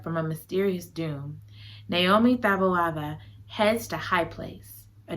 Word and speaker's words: Taboada: to save her from a mysterious doom, Naomi Tovada, I'm trying, you guys. I need somebody with the accent. You gotta say it right. You ain't, there it go. Taboada. Okay, because I'm like, Taboada. No, Taboada.